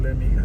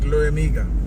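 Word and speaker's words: Liamuiga: Pronounce that word for me again, yeah? I don't get it right. Moit Lamiga, sorry. Lamiga? Moit Lamiga.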